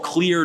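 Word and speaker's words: Xlear: infections is something called clear nasal spray clear spelled with an X XL e a r clear nasal spray it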